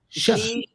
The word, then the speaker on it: Xi: When it starts with an X, you say sh. She. Yeah. Jinping. G, like she, like Xi CH. Jinping. Like sh sound. Like Shush. yeah, you'd say it like a sh sound.